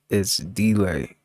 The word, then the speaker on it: ItsDlai: It's delay. It's delay. It's spelled ITSDLAI. Delay.